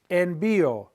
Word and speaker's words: envío: So if I want to say I send, it's envío, envío. There's an accent on the I. And why? Because it makes it two sounds, the I and the O.